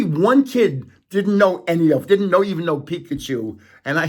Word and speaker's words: Pikachu: Only one kid didn't even know Pikachu. And I said, it rhymes with Mikachu.